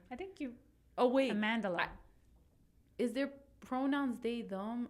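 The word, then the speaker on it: Amandla: up I'm so sorry um I'll just say Amanda yeah you know amandela amandela thank you see I was saying it wrong yes amandela and they play twins they're the same actor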